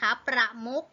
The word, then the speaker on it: ประมุข: เหมือน กัน นะ ครับ ประมุข นะ คะ สะกด ด้วย ขอ ไข่ นะ คะ แต่ ว่า เวลา เรา อ่าน ออก เสียง เรา ก็ อ่าน ออก เสียง เป็น เสียง ต่อ ไก่ นะ คะ อ่ะ อา